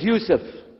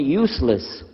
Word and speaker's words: Yousef: itah my name is Yousef can you say Yousef say Yousef you're very good I wish you teach my wife she keeps mispronouncing it she calls me useless alhamdulillah now how many